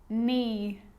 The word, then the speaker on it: knee: you know this one a k is not pronounced when it comes before an n like knife no knee knock not knowledge the letter l can be